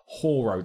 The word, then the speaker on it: Hoare: Aesthetically unsuitable names such as Tip House, Pit Lane will be avoided, or names capable of deliberate misinterpretation like Whore Road, that's spelled Hoare.